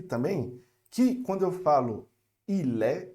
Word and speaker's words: il est: E observa aqui também que quando eu falo il est, eu junto o L com o E, tá certo? Il est. E eu não pronuncio o ST.